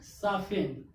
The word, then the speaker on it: soften: तो इसमें क्या हो गया? टी साइलेंट हो गया। क्यों? EN के पहले टी आया तो टी क्या हो गया? साइलेंट हो गया। टी साइलेंट हो गया तो क्या बचा? SOFEN।